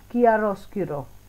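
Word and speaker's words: chiaroscuro: तो फर्स्ट है कियारोस्क्यूरो। कियारोस्क्यूरो, स्पेलिंग को याद कर लो, किया या फिर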